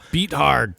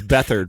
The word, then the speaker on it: Bethard: Beat hard. Dude. Is that how you pronounce it? No, it's Bethard, right?